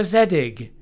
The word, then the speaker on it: Zedig: It's Zedig.